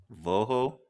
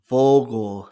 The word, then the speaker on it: Vogel: So you got the V. So it's Vogel, Vogel, Voho? Vogel. So Vogel, Vogel.